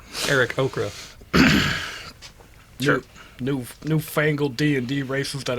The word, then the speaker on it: Aarakocra: Then half-elf person was like, yo, I've been studying these Aarakocras? I say Kokra. Kokras? Aarakocra, that's how you pronounce it? Yeah. Eric Okra.